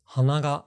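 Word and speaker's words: 鼻: If you ask a Japanese person, are these pronounced the same? They'll say hana hana. Yeah. But then if you say, what about if a particle is attached? And they'll go, let's see, nose. Hanaga flower hanaga. Like they don't even realize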